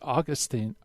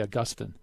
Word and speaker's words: Augustine: Augustine too you know Protestants usually say Augustine we say Augustine yep that's right and